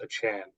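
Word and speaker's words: Achane: off last week yeah it's a Chan now he wants everyone to pronounce it as a Chan by the way do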